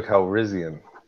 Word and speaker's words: Calrissian: Ooh, I believe that would be Lando Calrissian. Ooh, he even pronounced it correctly.